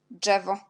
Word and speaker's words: drzewo: Et également, DZ, ça nous donne dż. Et DRZ, ça nous donne aussi dż, parce qu'on a déjà dit que jet, Z avec petit point, et RZ, on prononce dans la même façon. Avec D aussi, ça nous donne dż et dż.